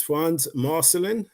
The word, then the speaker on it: Frantz Marcelin: evening wherever you are again my name is Frans marcelin is pronounced right Chris is marcelin uh wow what